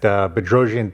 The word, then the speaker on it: Bedrosian: Welcome to our confessions of a GC series and today we're here with Rob Weller at Bedroian Tiles and Stone. I think I pronounced that correctly, right?